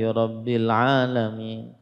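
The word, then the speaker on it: رَبِّ الْعَالَمِينَ: Alhamdulillahi rabbil alamin, nah ini tidak mengapa, ya. Atau dia membaca alhamdulillahi rabbil alamin, rabbil alamin, rabnya tidak ada tasydidnya, maka ini tidak sah bacanya.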